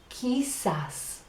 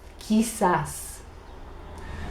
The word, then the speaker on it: quizás: you like this it's he SAS it's spelled cute you I said a s but it sounds like this he SAS so tienes la persona